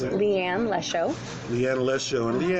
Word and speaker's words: Leigh Ann Lesho: full name the way that you like to pronounce it. Leigh Ann Lesho.